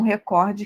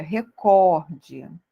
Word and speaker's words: recorde: que era dela mesma Qual é a sílaba tônica da palavra Record né e ao contrário de que muitos pensam é o pó tá essa é a sílaba tônica não é recorde recorde tá e essa palavra é uma palavra paroxítona tá ou seja é a sílaba tônica dela está na última na penúltima sílaba tá e não na antepenúltima Tá bom então não